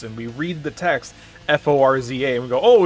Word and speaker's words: Forza: It's Italian. Oh, okay. It's not necessarily a T. It's not a Forza. It's more of like a is it a glottal stop?